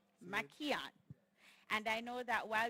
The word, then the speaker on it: Mackeehan: Pronounce it for me. It's Mackeehan.